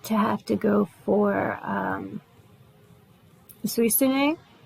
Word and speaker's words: Suicune: I tend to have to go for Suisune, or Suicune as a lot of people pronounce it, or Xerneas.